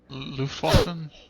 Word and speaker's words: Luftwaffe: I mispronounce it all the time because in German it begins with an L. Luftwaffe?